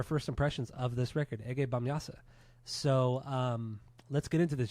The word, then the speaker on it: Ege Bamyasi: Ege Bamyasa. Bamyasa. That's how you're supposed to pronounce it.